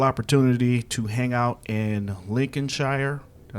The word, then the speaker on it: Lincolnshire: getting the wonderful opportunity to hang out in Lincoln Shire I say it right yes lsh yeah Lincolnshire